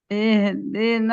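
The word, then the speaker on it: اهدنا: Ihdina. Nah tipiskan H-nya. Ihdina. Lihat ya mulutnya tidak. Ihdina. I ihdina. Sama kayak Hamzah bacanya.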